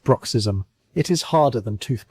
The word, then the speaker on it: bruxism: Vets call it bruxism, pronounced bruxism.